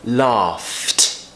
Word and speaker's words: laughed: do it and now let's get to when we pronounce it with a a tease out so for example the word laugh right laugh if we want to make that past tense we would say laughed laughed now this one's quite